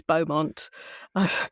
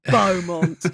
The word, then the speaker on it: Beaumont: It's Beaumont. Made it sound as boring as possible. Beaumont.